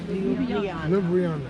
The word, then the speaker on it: Ljubljana: In Slovenia, first of all, I want to hear you how you pronounce the city's name. Ljubljana.